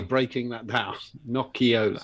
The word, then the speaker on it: Nocciola: Nocciola. So the I is an E. Got you. Nocciola.